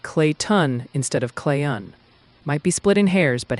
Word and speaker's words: Clayton: Some folks heard it more like clay ton instead of clayon. Might be splitting hairs, but hey. Oh, is it clayon without a t? Yep. Kind of like clayon. Real soft on that tea.